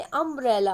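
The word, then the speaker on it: umbrella: उसी तरह से अम्ब्रेला, अम्ब्रेला में भी आ की आवाज़ आ रही है, अम्ब्रेला में आ, ये यू से ज़रूर स्टार्ट है, लेकिन इसको पढ़ते कैसे हैं, अम्ब्रेला पढ़ते हैं, इसलिए आवाज़ किसकी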